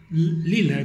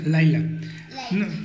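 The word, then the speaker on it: Lyla: Lila dice ahí, pero se pronuncia Laila.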